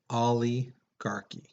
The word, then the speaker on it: oligarchy: the next one is oligarchy okay again it's pronounced ali garky uh this is a form of government in